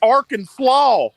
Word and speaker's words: Arkansas: You're on this pronouncing game. it wrong. It's Arkansas.